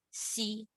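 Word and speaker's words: xi: do I mean by your X is your s so x i how do you pronounce it it's not Z it is C you take this X Change it to a s uh so become C see c c okay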